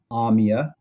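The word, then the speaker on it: Ahmia: notes Here one very popular one is called Amia and that's spelled a-h-m-i-a it is a it is a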